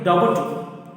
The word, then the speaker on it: doubt: In that silent letter is B, because we are not pronouncing the doubt. It is a doubt. So B is the silent letter.